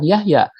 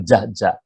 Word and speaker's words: Jahja: anak-anak muda zaman sekarang bukan Yahya tapi Jahja pasti mereka melafalnya Pak jajah bukan payah ya karena